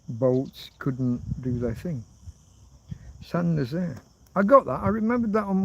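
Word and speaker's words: Saint-Nazaire: San is spelled like saint. You just don't... The French, when they pronounce words, they slack off at the end.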